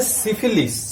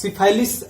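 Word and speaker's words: syphilis: तीसरा है सिफिलिस, सिफाइलिस ऐसे इसका प्रोनाउंसिएशन है, सिफाइलिस, जो कि ट्रिपोनीमा पैलिडम, ट्रिपोनीमा पैलिडम।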